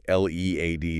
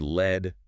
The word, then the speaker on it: lead: L E A D is another one. Yep. Pronounced lead rhyming with need. That's the verb meaning to guide, to be in charge, to go first. And pronounced led rhyming with bed.